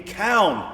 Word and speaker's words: Calne: the excitement could really be found yeah there we go living here in count which is how he would have pronounced it in those days with the L of